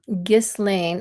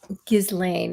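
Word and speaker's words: Ghislaine: Um, so, five takeaways from Giz Lane.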